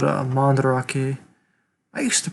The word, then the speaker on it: Mandarake: into the whole collecting community it's called uh mandarake i used to pronounce it manderake like the white person i am so it's mandarake but i'm probably going to be pronouncing it